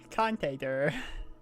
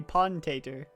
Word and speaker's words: Pontator: Contator. I realized why that never stuck, because you were saying it wrong. It was supposed to be Pontator.